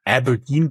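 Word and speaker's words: abrdn: next you exited with fin mice to It's pronounced Aberdine but it's spelled a r DN all in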